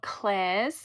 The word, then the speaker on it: Klairs: Two of my favorite toners are the Indie Lee CoQ10 or Claire's.